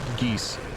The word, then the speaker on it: geas: know the GEOS and the name which is not how you pronounce it it's just called geese however if you pronounce